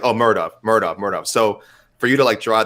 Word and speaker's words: Muradov: Mahmoud Muradov. Yes. Muradov, that's right. If it's said phonetically, nailed it.